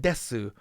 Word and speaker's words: です: not saying masu and desu. You know, mas, des, mas, des. You'll hear that even in super high level, polite, professional radio, they're not saying masu, desu.